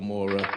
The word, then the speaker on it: Amora: So Amora, am I saying it right? Yeah. Everybody say what's up to the beautiful Amora.